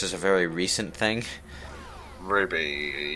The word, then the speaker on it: RWBY: a very recent thing Ruby you're going to have to refresh my memory here Rooster Teeth uh the the animated C oh that is that the one spelled like RWBY y or something like that yeah yeah what did